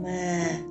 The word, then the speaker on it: mà: Mà. Okay, for this tone, you should keep your voice at low level.